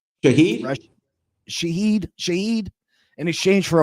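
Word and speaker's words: Shaheed: Rasheed Sherad, is that how you say his name? Shahed.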